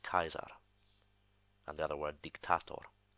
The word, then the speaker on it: Caesar: so a lot of people would have said Caesar but his name in classical pronunciation would actually pronounced Kaiser and the other word dictator and the phrase